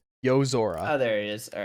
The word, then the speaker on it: Yozora: Yozora looks like he kind of looks He like looks like he Riku.